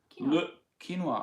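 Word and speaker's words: Le Quesnoy: town Madonna France is Luke quinoa spin out I spelt qu es n o why sort of like the grain ya pronounce like this yeah quinoa look quinoa I wonder if anyone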